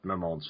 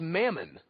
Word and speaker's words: Mammon: up going in, like, Mamon's face. I didn't like how they pronounced his name, by the way. Because the way that name is spelled, it's Mammon, which means money.